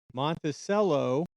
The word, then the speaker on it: Monticello: So, just to catch you up to speed, we are in Monticello. That's how they pronounce it, Utah right now.